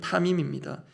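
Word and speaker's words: תמים: 그 히브리어 발음이 타밈입니다.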